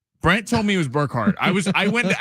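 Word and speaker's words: Bergert: Brent told me it was Birkhard. I was I went to ask Jim. I was like, "It's not Birkhart. It's It's like It's like Kevin Burkhard."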